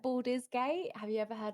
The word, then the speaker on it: Baldur's: um I even like, so you like Baldur's Gate. Have you ever heard of that? No, I've heard of Borderlands, but I've never Borders Gate. Baldur's, so like BAL.